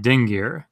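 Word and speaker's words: dingir: N in the word ding gear sumerian has a nasalized g letter that it uses so it's it's an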